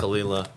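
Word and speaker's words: Caol Ila: so it it looks like cow and you kalila yeah yeah the pronunciation is half the fun with this stuff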